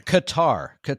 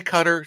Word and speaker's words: Qatar: Qatar. No, some say Qatar, some say Qatar.